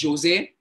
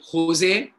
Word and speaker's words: Jose: Now that can be pronounced in various ways. You can pronounce it as Jose or Jose or Jose.